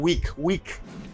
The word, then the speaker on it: week: You got a W sound, week.